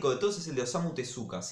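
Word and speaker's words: Osamu Tezuka: todos es el de osamu tesa osamu tesca si lo quieren pronunciar bien que es el creador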